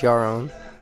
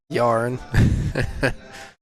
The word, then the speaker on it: Yaron: I believe he told me it's pronounced Yaron, even though everyone says Yarn.